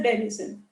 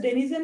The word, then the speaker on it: denizen: so he is a denison so remember this rhymes with citizen but citizen is to be matched to a country whereas denison is matched to a